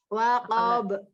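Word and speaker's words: وقب: Waqab. Nah, ya, kalau ini be ya pantulannya, bukan bo. Ini kan hanya tadi kof karena dia huruf tebal ya tetap tebal ketika sukun. Kalau ba tipis.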